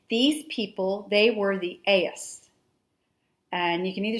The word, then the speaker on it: Ais: These people, they were the Ais, and you can either spell it A-I-S or A-Y-S.